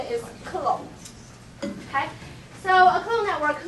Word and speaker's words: Clos: you will just embarrass yourself so the right pronunciation is clone okay so a clone Network looks like this